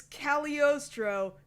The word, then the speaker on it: Cagliostro: and the I'm gonna say this wrong the cagliostro Josh I've already how many times have pronounce the G in caliostra yeah caliostio just like the lupon yeah everybody gets that wrong it's not Castle hagliostro it's caliostro the silent okay Ood I live to upset